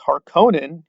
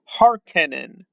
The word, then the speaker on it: Harkonnen: from and then with harkonnen he turns them into a ken doll because now it's harkenin but there's no e that's an o now those things it's